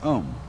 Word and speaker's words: Om: mantras is of course the sound ohm that sound is used because if you spell it out a new M it runs from the back of your throat to your lips and therefore it contains